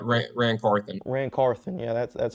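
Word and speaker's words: Carthon: you say his last name c r ran Caron ran Caron yeah that's that's how you say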